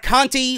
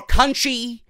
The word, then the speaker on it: Conti: Dakota Kai versus Taynara Conti, or Conchi, however you guys want to pronounce it. If Moro was here, he would say Conchi. And we had Vic Joseph on commentary, and he pronounced it the way I would usually say it, Conti.